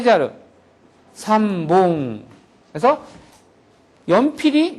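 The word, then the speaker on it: 三本: 볼펜 세 자루, 삼봉.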